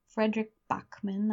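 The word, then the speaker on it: Fredrik Backman: The author is Frederick Bachman, I believe is how you say his name.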